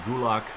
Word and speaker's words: Gulak: Yeah, Gulak.